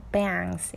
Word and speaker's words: bangs: A 발음이니까 요거 A 발음 잘해주세요. bangs 이렇게 좀 크게 큰 A예요.